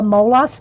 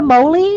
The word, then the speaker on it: molas: I want to know I looked up the the molas site and how they pronounce it and that's how they say they pronounce it and and I and I did the S the the audio all of it it's molas but you know if you